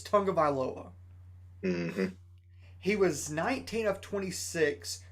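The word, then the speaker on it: Tagovailoa: looking at tua and most people do not know how to pronounce his last name it's his last name's tonga viloa he was 19 of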